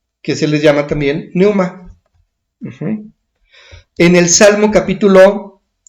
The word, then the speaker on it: pneuma: Pneuma, con P al principio, pneuma. Y pneuma significa viento o soplo. Uh-huh. Espíritu. Uh-huh. Un espíritu es pneuma. Y hay ángeles que se les llama también pneuma.